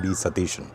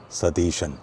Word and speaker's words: Satheesan: So here although he himself takes oath as v satishan and by the way the second s in satishan is written as s but it's pronounced as sha just like shabarimala.